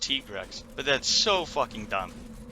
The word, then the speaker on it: Tigrex: really try and have my training arc in the mountains to get better and fight G-rank Tigrex and finally be able to kill him solo, which I did.